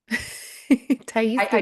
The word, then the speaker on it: Thais: Ta. I did this. Yeah. Is it Tai? Yeah, it's pronounced that.